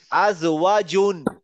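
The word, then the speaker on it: أَزْوَاجٌ: আজওয়াজুন। আজওয়াজুন হয় নাই। আবার আপনি মনে রাখবেন, এই জিমের উচ্চারণ হচ্ছে জ্যাক, আর এটার উচ্চারণ হচ্ছে জেড।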